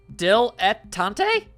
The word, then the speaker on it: dilettante: How do you pronounce this noise? Dilettante? Dilettante? What about you, thing? Hang on. Dilettante. Dilettante! Dilettante. It's dilettante.